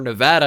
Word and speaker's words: Nevada: let's see he is from Nevada where Nevada as the locals say so Brandon Ramsey potentially